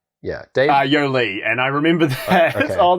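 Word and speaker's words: Yolei: wow it said yoli she pronounced her name to rhyme with go see okay yeah weird and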